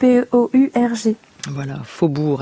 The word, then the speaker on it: faubourg: aux eaux usées voilà faubourg avec sauge et qu'on n'entend pas qui ne se prononce pas mais qui est bel et bien là à la fin du mot un carillon c ar